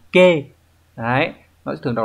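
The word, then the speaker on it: 気: Thì các bạn có chữ khí khi mà nó đứng ở đằng sau một từ như này thường nó sẽ đọc là kê. Đấy, nó sẽ thường đọc là kê và nó chỉ cái cảm giác, đúng nhỉ?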